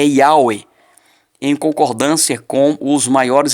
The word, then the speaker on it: Yahweh: Ao analisar inúmeros manuscritos contendo o nome do eterno Yud-Heh-Vav-Heh, conclui o rabino James Stream que a pronúncia correta é Yahweh, em concordância com os maiores especialistas sobre o tema, usando o termo Yahoo.